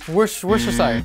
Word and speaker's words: Worcestershire: This is the sauce nobody can pronounce. Worcestershire? Worcestershire.